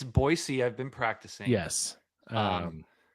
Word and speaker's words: Boise: Because you you have to pronounce it Boisey. It's Boyisey.